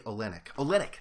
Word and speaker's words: Olynyk: Olenek. That the play last game, if you didn't see it, Kelly Olynyk, that's it.